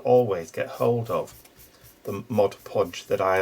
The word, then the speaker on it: Mod Podge: it like i've used mod podge and i say that mod podge because i've got told off once for saying mod podge because it's not the right pronunciation um i've tried that